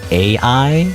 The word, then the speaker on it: Ai: So I Well, by the way, the original name of the character was I as in Ai, you know, because that's how you pronounce it in in Japanese.